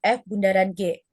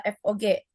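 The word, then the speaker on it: f∘g: Notasi operasi komposisi fungsi adalah O dibaca bundaran, FOG dibaca F bundaran G. Jadi kita jangan sampai bilang kalau ini tuh adalah FOG.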